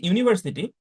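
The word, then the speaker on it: university: কিন্তু যখন আমি বলছি ইউনিয়ন, যখন আমি বলছি ইউনিভার্সিটি, তখন এখানে কিন্তু দুইটা সাউন্ড চলে আসছে, ই আর উ, তাই না?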